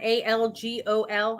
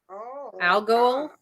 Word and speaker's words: Algol: i start again algae it is al algon a l g o l i put an n in it so algol okay spell it again a-a-a-l-g-o-l algol that's funny your pluto